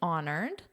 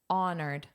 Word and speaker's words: honored: Honored. What do you notice? Honored. Honored. Well, you may have noticed that this H is not pronounced.